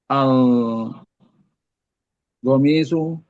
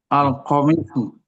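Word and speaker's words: القميص: Mengapa al go, kayak seperti ada goin ya. Al qomi, ya. Iya, seperti goin ya. Coba apakah itu hurufnya goin itu? Qof. Al qomisu. Iya, iya. Itu yang pertama ya. Ya. Hurufnya qof tapi Pak Afif bacanya gitu. Ya. Gitu. Al qomisu. Saya menduga-duga sih ini mungkin karena Pak Afif sudah dekat dengan beberapa orang Habib ya.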